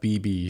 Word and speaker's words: bebe: And then I used to do a ton of BB shoots. Bebe is the French pronunciation, but BB, I did a bunch of their campaigns.